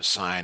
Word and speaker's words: sine: the rules you know sine not sin sends a different class